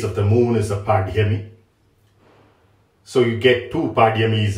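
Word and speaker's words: pāḍyami: Many people pronounce this as bali-pāDyami, but it's actually pāDyami.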